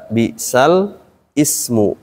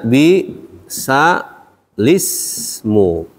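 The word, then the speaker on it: بئس الاسم: jadi penjelasan seperti ini dibacanya bi sa lismu bukan bisal Ismu kita bongkar dulu kalimat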